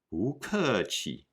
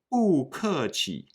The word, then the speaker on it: 不客气: The rule is when 不 is followed by a fourth tone or falling tone syllable, 不 becomes a second tone or rising tone syllable. We don't say 不客气, but 不客气.